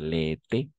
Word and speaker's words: l'été: Si bien que je travaille tout l'été, como están acentuadas, entonces vamos a pronunciar l'été, así, l'été.